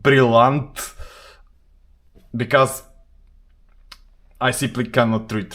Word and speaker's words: Brillant: Actually, it's not Brillant. Brillant is in the English pronunciation. Brillant, as it is written here, it's a French word, but I don't want to try my French.